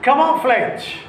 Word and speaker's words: camouflage: Similarly, origin, Gin, virgin, Virgin, Virginia, Egypt, Egypt, Egypt, camouflage, camouflage, CAMOUFLAGE, as G is followed by E, the pronunciation is camouflage.